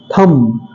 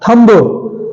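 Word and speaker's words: thumb: थम, थम, ब हल्का सा साउंड आता है लेकिन स्पष्ट बा का साउंड नहीं निकलता है। थम, थम, थम मीन्स अंगूठा। थंब, थंब नहीं बोलते हैं क्योंकि इसमें बी क्या है?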